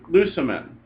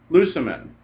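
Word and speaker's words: λύομεν: If the last syllable is short, like look at the first person plural, lucimen, lucimen, the last syllable is short, the accent goes back to the third last syllable, the antepenult, and it will also be acute.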